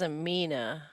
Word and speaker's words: Amina: And then Aria and, is it Amina? How do you pronounce that? It's Amina.